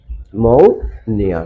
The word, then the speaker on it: pneumonia: So, my dear learners, the correct pronunciation of this word will be that N-E-U. New mo mo nia new pneumonia means pneumonia বিশেষ কোনো the names of any certain disease বিশেষ কোনো রোগের নাম pneumonia.